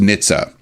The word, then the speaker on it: NHTSA: The larger is the National Highway Traffic Safety Administration, or NHTSA, often pronounced NHTSA.